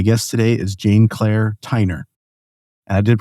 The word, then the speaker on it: Tyner: today is Jane Claire Tiner. And I did pronounce that last name correctly. Did I? Did. Okay. Good. Good. I assumed it was like Tyler but just with an N.